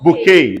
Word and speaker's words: bouquet: Bouquet. The T is silent.